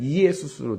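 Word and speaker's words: Ἰησοῦς: 지저스가 원래는 발음이 예수스에서 예수스. 원래서 헬라어에는 이예수스로 되어 있습니다.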